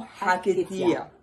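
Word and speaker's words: Haketia: Jaquetía, en francés, En Jaquetía. Entonces se escribe como se pronuncia, con H-A-K-E-T-I-A.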